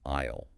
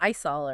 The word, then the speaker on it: aisle: And the key thing for pronunciation is that the S is completely silent. It sounds exactly like isle as in I will. Ah, isisle. Like I'll go down this aisle. Not isol or anything.